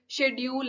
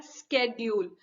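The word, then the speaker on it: schedule: Common words है कि शेड्यूल है, हम ये चीज बोल देते हैं बट एक्चुअली इस वर्ड को बोला जाता है स्केड्यूल।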